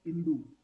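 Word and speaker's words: hindú: H is silent. Soy Hindu.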